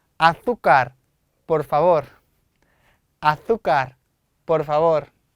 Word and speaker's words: azúcar: azúcar, por favor. azúcar, por favor. 쌤이 스페인 사람이니까 빠짐없이 세타 나오거나 세가 나오면 번데기 발음이 나와요.